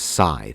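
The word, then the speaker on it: Sithe: Courtney scythe and yes her name is pronounced scye not see no whatever my mistake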